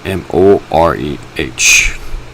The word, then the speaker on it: Moreh: the setting sun, near the great trees of Moreh. That's spelled M-O-R-E-H.